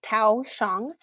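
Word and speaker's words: Thoj Xyooj: Blessed Paul Tao Shang, that's pronounced Tao Shang.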